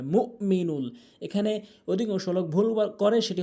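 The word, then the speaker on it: المؤمن: হামজার উচ্চারণ করেই না এখানে হামজার উচ্চারণ করতে হবে মুমিনুল এখানে অধিকাংশলোক ভুল করে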